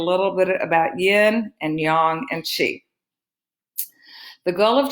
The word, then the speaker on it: yang: the words yin and yang. Most Americans call it yang, but the proper way to pronounce it is yang.